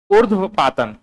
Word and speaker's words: ऊर्ध्वपातन: उर्ध्वर पातन, क्या बोलते हो? ऊर्ध्वपातन, ठीक है, ऊर्ध्वपातन।